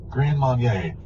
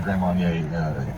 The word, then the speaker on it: Grand Marnier: You know, my biggest takeaway from that was, I don't drink alcohol, so hearing you pronounce Grand Marnier? Grand Marnier.